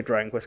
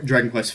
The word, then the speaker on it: Dragon Quest: So I think that if they're going to pick a Dragon Quest character, he's the one that makes the most sense.